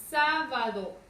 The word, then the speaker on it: sábado: Tengo la palabra sábado. Nuevamente, lo primero que hacemos es identificar su sílaba tónica. Sábado. ¿Dónde recae la mayor fuerza de voz? En sa. Sábado.